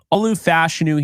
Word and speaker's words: Olu Fashanu: Another guy is Olu Fashanu, who I just found out that's actually the way to pronounce his name. Olu Fashanu here, the tackle out of Penn State, does not get enough credit.